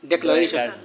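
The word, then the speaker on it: declaration: দ্য ডেক্লারেশন, আগেই ছিল ডিক্লেয়ার্ড, ডয়রিশিকে ডি উচ্চারণ বলে ডিক্লেয়ার্ড, কিন্তু এখন হচ্ছে কি? ডেক্লারেশন, ডে ডয়াকারে ডে, ডেক্লারেশন। উচ্চারণ একটু তফাৎ আছে, জি এটা নাউন।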